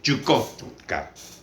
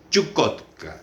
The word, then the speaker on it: Chukotka: hielo este 55 millas 55 millas queda exactamente chukotka chukotka Ese es el nombre Entonces qué sentido se